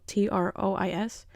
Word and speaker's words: trois: I just Googled it, and I was going to say twas because it's spelled T-R-O-I-S. Yes, but that's how you say it, trois.